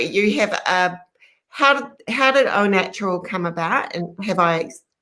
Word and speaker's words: Au Natural: your background right so own natural skin food yes you have pronounced it properly it is spelt au which is a little bit confusing but it is pronounced Oh H and O natural